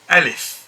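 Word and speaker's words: ألف: this is alif and it's pronounced by opening your mouth not fully open not oval but rather half oval and half wide ah alif in order to get the correct pronunciation alif a certain amount of opening of the mouth should be there in order to get the complete sound alif next one is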